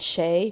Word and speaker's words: sé: And then to swap out the me, with shay means it is or he is cold.